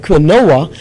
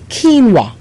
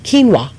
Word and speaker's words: quinoa: spelled qu i n o O A like quoa but it's actually pronounced quinoa ke n w quinoa and it's a high protein grain from South